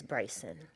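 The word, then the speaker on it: Briason: And we pronounce it as my son's name, which is Bryson.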